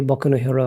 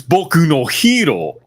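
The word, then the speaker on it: 僕のヒーロー: yeah the weebs yeah same weebs who called my hero Academia Boko hero Academia oh oh God you mean b actually it's bokuno hero they they do that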